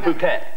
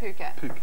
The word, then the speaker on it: Phuket: you been in in Thailand okay oh it's pronounced Phuket Phuket Island the island of Phuket Phuket yeah very nice we went out one